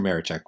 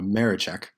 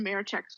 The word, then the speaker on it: Maraczek: Maraczek. Wow, I butchered that. Pro tip, you don't pronounce the Z.